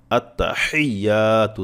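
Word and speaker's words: আত্তাহিয়্যাতু: হাটা বারবার পড়েন আত্তাহিয়াতু থেমে থেমে আত্তা হিয়াতু এভাবে আত্তা হিয়াতু আত্তা হিয়াতু এভাবে বারবার পড়েন থেমে থেমে পাঠ পাঠ করে তাহলে আপনার সহি হবে একসাথে পড়তে গেলে অনেক ক্ষেত্রে উচ্চারণটা আসতে চায় না আত্তাহিয়াতু এভাবে বললে আপনারা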